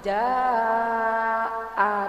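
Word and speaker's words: جاء: semua kan lebih sajam Jaa jadi kata Jaa Nasrullah jadi a-nya itu jangan kita buang ya Bu ya Karena itu satu kata dengan lafaz dengan huruf jinnya Jaa jadi ibu jadi buah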